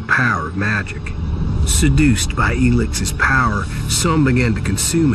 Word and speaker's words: ELEX: And now we know how to pronounce the name, it's ELEX.